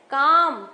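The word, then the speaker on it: calm: Ornate काम हम L नहीं बोल रहे हैं.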